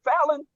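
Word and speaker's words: Falynn: Hey, how you pronounce the wife's name? Fallon.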